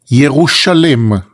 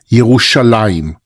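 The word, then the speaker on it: ירושלים: Yerushalem, it's the proper pronunciation for Jerusalem. Yerushalem, that's the way that it appears in the Bible. In Israel, we used to say in the Holy Land, we say Yerushalayim.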